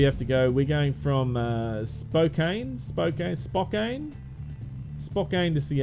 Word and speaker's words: Spokane: of that town is Spokane spoke in like as in spoken like yeah spoken word yeah I've looked at the pronunciation of it and it basically says SPO - C a.m.